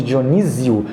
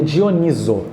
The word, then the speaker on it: Dioniso: que vende Dionísio que a gente pessoal chama ele de Dionísio mas o correto seria dioníso né ou também conhecido